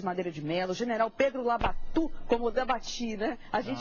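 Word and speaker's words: Labatut: o General Pedro labatu meu velho Professor cazã ensinou que a gente deve chamar Como o povo chamava na época e chamava labatu e chamava labatu não era labatu não é porque a pronúncia lá dia ele nasceu É labati mas ele dizia Olha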